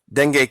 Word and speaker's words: dengue: Dengue cases already double total of last year. The latest, I've heard it pronounced dengue and dengue. However, I guess it doesn't really matter at this point.